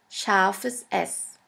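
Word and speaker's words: ß: We call it set set or sha s sha s which means a sharp s. This letter is pronounced like the double s in the word kiss.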